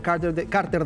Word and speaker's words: Carter: ¿Cómo se pronuncia su nombre? En Chile se dice Carter ya.